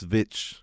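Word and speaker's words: VVitch: That's how they originally pronounced witch with two V's instead of of W. It's Vitch.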